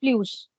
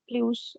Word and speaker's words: plus: It has three pronunciations actually. This one has three pronunciations. One is plu, second is plus, third is plus, z and s.